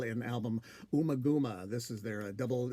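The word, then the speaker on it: Ummagumma: call it umaguma now i've heard different pronunciations like omagama but i think it's umaguma but to call the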